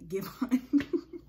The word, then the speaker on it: Giveon: Giveon. I'm sorry, it's spelled give and on. It's just that the two words are together. So Giveon.